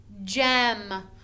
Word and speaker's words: gem: word jump it is this is called soft g and when we have a soft g it makes the j sound it makes the sound of a j j so in the word gem it says j m gem that is soft g so not every time that you see a g is it going to be g in this instance it's going to be j gem gem can you